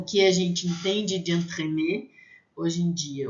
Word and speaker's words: entremets: Entremets, vai ter som de A, entremets. Entremets, com S no final, vai ser plural e a gente não vai pronunciar, mesmo assim, mesmo sendo pronuncial, vai ser a mesma pronúncia.